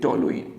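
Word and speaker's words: toluene: क्या बोलेंगे, टोलुइन, या तो टोलुइन बोलो या टोलिन बोलो, आप कैसे प्रोनाउंसिएट कर लीजिए, कोई दिक्कत नहीं है, ठीक है।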